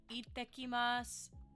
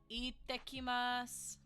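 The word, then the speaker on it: いってきます: Ittekimasu. Ittekimasu. Ittekimasu. See how I'm pronouncing that break when we have that small tsu, meaning that we have a double consonant. Remember that we pronounce that break.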